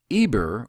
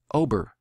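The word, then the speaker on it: עבר: a language necessarily, but Eber, or what I would pronounce by way of the ancient text and the way I believe it should be pronounced, Ober means to travel over.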